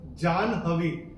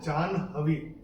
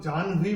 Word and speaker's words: जाह्नवी: कैसे चेंज किया था जान हेवी ठीक है इसमें एन का उच्चारण मैंने हा से पहले किया था तो इसका उच्चारण होगा जान हेवी कॉलेज के लिए लोग जान भी बोल देते हैं लेकिन